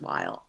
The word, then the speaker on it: Weil: is david weil yes it looks like wheel on paper w-e-i-l but i think it's pronounced while and his nomination just